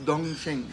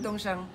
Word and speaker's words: Dongsheng: collective known as the Dongsheng. Is that no? That's wrong. How do you say it again? Dongshang. Dongshang.